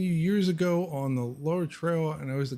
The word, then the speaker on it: Lower: you years ago on that's not Lower, that's Lower Trail. And yes, it's spelled Lower, but it was the name of a person, a lawyer by the name of Lauer, who donated a lot